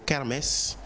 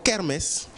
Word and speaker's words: kermesse: Alors, c'est le mot kermesse, et kermesse s'écrit K-E-R-M-E-2-S-E. Kermesse, K-E-R-M-E-2-S-E. Merci.